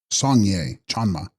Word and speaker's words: Sangye Chanma: Text: Sangyas Spyan Ma, pronounced Sangye Chanma, she of the Buddha eye, or eyes.